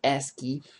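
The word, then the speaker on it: ASCII: our ACI table or ask key as it's properly pronounced actually uh we see that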